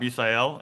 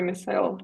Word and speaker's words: Misael: But good job, Bisael. How did you feel about that, Ksenia? I pronounced his name wrong. Sorry, Misael.